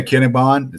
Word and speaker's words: Akinebon: Darren Akinebon, that's how you pronounce it, 100%.